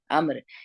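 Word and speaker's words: عمرو: है मेरी फेवरेट है अब्दुल्ला बिन यह उम्र नहीं है और ये उम्र भी नहीं है ये आम है आम्र ये अरबी में लिखती ऐसी है वह साइलेंट होता है अब्दुल्ला बिन अमर रहे रसूल अल्लाह कौन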